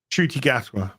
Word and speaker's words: Ncuti Gatwa: Ncuti Gatwa.